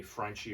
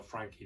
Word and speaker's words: Franchi: the italian gun company franchi or frankie depending on your pronounce sadly after that sales